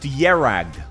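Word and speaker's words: Kjerag: And the country is pronounced Yerag.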